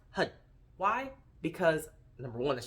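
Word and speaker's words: Har: the word hud now when you see that that's h a r it's pronounced hud why because number one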